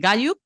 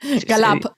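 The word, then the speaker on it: Gallup: El otro dato que tenemos por aquí es el estudio de Gayup o Gayup, no sé cómo se pronuncia. Galap, probablemente.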